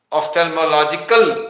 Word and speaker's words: ophthalmological: से पहले आपसे सीख के जाऊं कि उसे प्रोनाउंस किया कैसे जाता है फिर से एक बार बताइए ऑफ्थेल्मोलॉजी है ऑफ्थेल्मोलॉजिकल सोसाइटी है, तो दिल्ली ऑफ्थेल्मोलॉजिकल सोसाइटी।